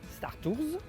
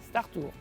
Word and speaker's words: Star Tours: de deux façons différentes à l'américaine en prononçant le s stars tous ou à la française sans le s star tours il n'y a pas de bonne ou mauvaise prononciation c'est vous qui décidez à